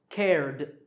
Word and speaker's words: cared: In this word, it's jumped, jumped, t, or cared, cared, d.